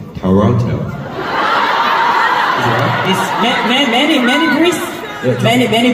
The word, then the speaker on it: Toronto: Toronto Toronto oh somebody somebody told me that Toronto the pronunciation is Toronto many many bre many